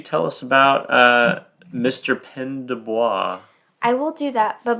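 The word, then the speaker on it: Pène du Bois: the 1948 winner the 21 Balloons by William pen deis did I pronounce that right correct okay yeah all these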